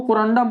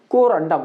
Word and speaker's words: कोरंडम: तो आप लोग इसको कोंडम पढ़ना है ना कितना इसको कोंडम पढ़ देता है तो कोंडोम मत पढ़ना ठीक है ना इसको अच्छे से उच्चारण करना क्या पढ़ेंगे कोरंडम ना कि कोंडोम ठीक आगे है क्या